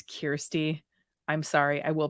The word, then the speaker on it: Kyrsti: In my second video, I kept calling her Kyrsti. It's Kyrsti.